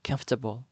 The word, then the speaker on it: comfortable: B ဖြစ်ပါတယ်အဓိပ္ပါယ်ကတော့သက်သာရှိတာကိုခေါ်တာဖြစ်ပါတယ်ဒါပေမဲ့သူ့အသံကသူ့အသံကဖြစ်ပါတယ်ဆိုပြီးတော့အသံလေးတံမထွက်ပါဘူး comfortable ဆိုပြီးတော့အသံကသုံးတန်ပဲရှိပါတယ်ပထမဦးဆုံးစစ်လဖြစ်တဲ့ camp မှာ stress ရှိပါတယ်အသံအစီက comfortable comfortable ဖြစ်ပါတယ်နောက်တစ်လုံးကတော့ OPB o tes ပဲဖြစ်ပါတယ်ဒီစကားလုံးရဲ့အဓိပ္ပာယ်ကတော့အခွင့်အလမ်းအခွင့်အလမ်းကိုပြောတာဖြစ်ပါတယ်အာအလုပ်အကိုင်အခွင့်အလမ်းပဲဖြစ်ဖြစ်တစ်စုံတစ်ယောက်ကအခွင့်အလမ်းပေးတာဖြစ်ဖြစ်ကိုဒီစကားလုံးနဲ့သုံးပါတယ်ဒါပေမယ့်သူ့အသံက က opportunities